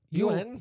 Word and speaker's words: yuan: So it popped up as y u a n as in yuan or you two quick syllables you you in you you in or you out you in you out.